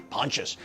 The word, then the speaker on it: Pontius: Avenue in West LA when I say pontious p o n t i s I didn't know how to pronounce it I was like is it Pontius no I had to put it in Google and then Google told me Pontius 1845 Pontius in